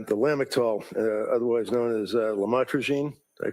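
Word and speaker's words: lamotrigine: about the u the lamel otherwise known as lamatroine. Did I pronounce that right? Lamotroine.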